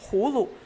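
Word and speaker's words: 葫芦: Its pronunciation, Hulu, sounds like 福禄, which means blessing and prosperity, making it popular among the common people.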